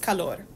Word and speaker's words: calor: But just remember, what's important in this sentence is this is not a rolled R. So this is just calor.